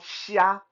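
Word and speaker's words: xia: in Mandarin it's called Shia it's spelled x i a but just pronouncing it more like uh like essay s-h-i-a or s-i-a that that's a that's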